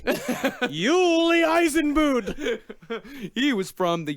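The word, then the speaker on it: Jule: It's pronounced Yuli. Yuli Eisenbud.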